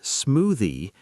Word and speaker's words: smoothie: The word smoothie is smoothie. Stress the first syllable.